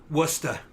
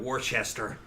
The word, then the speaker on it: Worcester: Worcester instead of Warchester. Yeah. like that. Yeah. Yeah. Worcester. Worcester. They say Worcester. Yeah. Where it's clearly looks like Warchester.